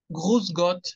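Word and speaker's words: Grüß Gott: Pero es Gruß, suena con U. No, así es con U. Gruß Gott, así saludan en Suiza.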